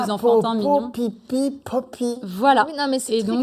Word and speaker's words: Popee: Et alors pensez- pourquoi Poppy Parce que alors, Poppy en anglais, ça veut dire coquelicot. Alors pas écrit comme ça, hein, mais la Ouais, tout à prononciation, fait. c'est coquelicot. Alors que Poupy, c'est le caca.